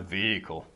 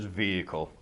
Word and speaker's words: vehicle: of makes it confusing it's pronounced vehicle there's no H says vehicle vehicle yeah it's all